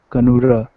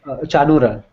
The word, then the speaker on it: Chanura: destroyer of Kamsa and Kanura, the greatest joy of Devaki. Chanura. This is Chanura, but it's just the way it's spelled.